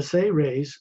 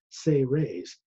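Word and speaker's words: Seres: The Say Rays, S-E-R-E-S, pronounced Say Rays as if it was spelled S-A-Y hyphen R-A-Y-S, Say Rays.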